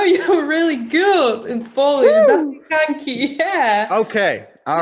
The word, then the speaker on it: zapiekanki: Zapiekanki, yeah.